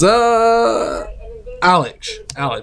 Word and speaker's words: Alich: Then we have here 2 I can never pronounce the name correctly. It's Alich, there you go. It's in German, so it's a different word.